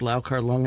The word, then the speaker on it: Liu Chia-liang: Liu Chia-liang, or how do you pronounce it? Okay, I learned it with the Cantonese, which is Liu Chia-liang, and this is always